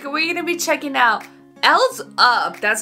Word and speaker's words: EL7Z UP: guys it's Eric we're gonna be checking out else up that's how you say it cheeky really excited